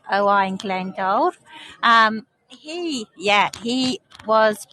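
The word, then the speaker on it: Owain Glyndŵr: old oow oing glendor or as his name is pronounced in Welsh o glendor um he yeah he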